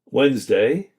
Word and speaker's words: Wednesday: Number four, silent letters. Wednesday. Comfortable. So we do not say Wednesday, we say Wednesday. So we have some silent letters there. We do not say comfortable. We say comfortable.